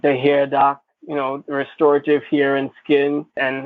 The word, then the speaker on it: RXestorative: fingers make a x r e s t o r a t i v e restorative because we restore your hair so it's restorative the x is silent we have to i